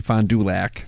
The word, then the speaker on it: Fond du Lac: like it's one word Fond du Lac is actually fine du Lac I don't know if I can pronounce it but that's how we pronounce it final like the